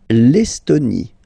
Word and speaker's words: Estonie: L'Estonie, final E, not pronounced.